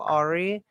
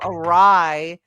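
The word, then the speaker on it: awry: So when we get into things, as I like to say, things go Ari.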